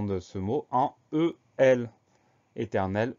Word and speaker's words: éternel: Donc, E accent aigu, T, E, R, N, éternel, on entend toutes les lettres.